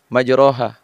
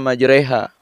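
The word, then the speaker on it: مجريها: Sementara aku membacanya dengan lafaz majroha, aku kelupaan. Padahal semestinya dibaca majreha, karena dihukumi dengan imalah.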